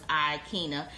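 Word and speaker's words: Aikyna: So she named me Akina, which is A-I. The A is silent, so it's Akina.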